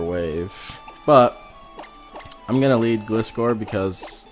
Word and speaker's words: Gliscor: I don't know if that Sableye would have Will-O-Wisp or Thunder Wave, but I'm gonna lead Gliscor because, or Gliscor, however you want to pronounce it. I pronounce it Gliscor.